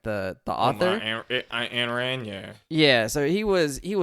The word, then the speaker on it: Ayn Rand: So he was an Ayn Rand fan. I think that's how you say her name, like the author. Ayn Rand, yeah.